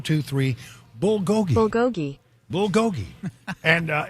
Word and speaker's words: bulgogi: looked it up and you know the official pronunciation is bulgogi Bill Gogi there you go well you know